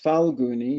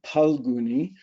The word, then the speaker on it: Phalguni: and utra paloni nakshatra some people may call those faloni you can pronounce it either way um but having studied Sanskrit quite a bit paloni is actually more accurate than faloni so um but they're both acceptable so we'll start off